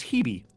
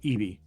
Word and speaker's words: Hebe: Her name tag, because she's got a little gold-plated name tag, is Hebe, Hebe. Okay. Or Ebe, because I think they don't pronounce the H.